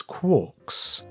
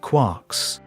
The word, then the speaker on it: quark: talking about his ideas referred to these subhadronic fragments as quarks rhyming with pork but he never considered